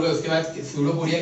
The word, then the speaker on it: pseudopodia: So pseudopodia, actually it is P, but P is silent.